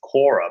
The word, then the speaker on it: Qorra: to resonate with the name it's the name's Kora but Kora when you pronounce in Italian it means cor it's heart